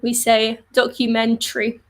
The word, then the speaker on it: documentary: pronounce every letter so with documentary we don't really pronounce the a we don't say documentary because it's too long